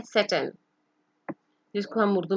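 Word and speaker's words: Satan: सेटन, जिसको हम उर्दू में शैतान कहते हैं. The correct pronunciation is सेटन.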